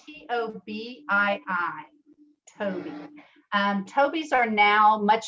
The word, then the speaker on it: Tobii: um a communication device called the tobii and it's spelled t-o-b-i-i toby um toby's are now much smaller but again